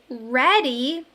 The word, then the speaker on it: ready: EA is in the middle of this word, which usually makes a long E sound. But when we say ready, it sounds like a short E sound.